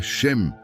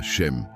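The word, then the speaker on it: שם: Para aprofundarmos neste conceito, precisamos conhecer a palavra hebraica para nome, que é shem, se pronuncia shem.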